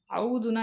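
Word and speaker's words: أعوذ: சரிங்களா அவதுனா என்னது பாதுகாப்பு அவது என்று சொல்லும் பொழுது ஐன் வந்து நல்லா உச்சரிக்கப்படணும். ஆ அலிப்உடைய உச்சரிப்பும் வந்து ஆ தொண்டையில இருந்து வரணும். ஆனா வந்து மெல்லிய உச்சரிப்பாக வரணும். அயனோட உச்சரிப்பு வந்து நல்லா கனத்த உச்சரிப்பாக வரணும்.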